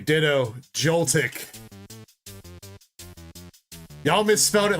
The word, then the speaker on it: Joltik: No, you got it with an X. You got Joltix. It's Joltik. Unless I missed you spell it right the first time.